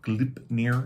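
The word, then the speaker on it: Gleipnir: story of that but it's called glyph glip I think glip is the pronunciation and that's the one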